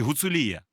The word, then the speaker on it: Гуцулія: поставив наголос гуцулія чи гуцулія тут питання коли кажуть Гуцули і Гуцули правильно буде казати Гуцули а не Гуцули але гуцулія так так давайте Таким чином